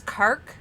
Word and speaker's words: Kark: Sorry, it's Kark? Yes. My brain was saying Kirk, so I wanted to double check.